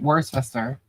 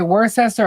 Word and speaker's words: Worcester: Worcester. Now people do say that wrong. They say Worcchester or Worchester. They put the H in there.